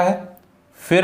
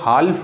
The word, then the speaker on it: half: HALF तो हाल्फ नहीं पढ़ेंगे, हाफ, हाफ, एल साइलेंट है।